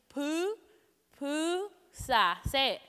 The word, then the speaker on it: pupusa: and I'm going to give you a quick pronunciation poo poo ha say you can stop giggling down and feel free